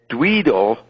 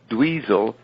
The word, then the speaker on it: Dweezil: Moon Unit Zappa, Frank's young daughter, hangs out by the pool with Georgie the Alsatian, and Dweedle, he's got the name wrong, Dweedle, it's Dweezil, newborn son, sits in a plastic bucket on the kitchen table watching a miniature TV.